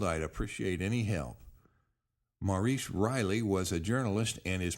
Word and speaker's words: Ryle: I was wondering if you could help locate a book written by Maurice Riley." Now, I read that as Riley, but it's spelled R-Y-L-E, so it could be Maurice Ryle.